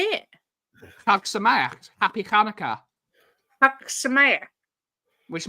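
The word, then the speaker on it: חג שמח: Chag Sameach, Happy Hanukkah.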